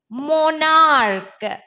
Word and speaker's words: monarch: Because here the CH is pronounced as ch. If you can understand Hindi, I think you know Hindi letters. Instead of ch, it is pronounced as k.